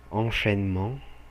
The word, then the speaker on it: Enchaînement: Quem pensou que se pronuncia Enchaînement, acertou, perfeito.